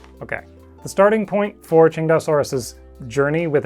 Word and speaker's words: Tsintaosaurus: I'm still going to say it Tsintaosaurus though, because now I'm in the habit.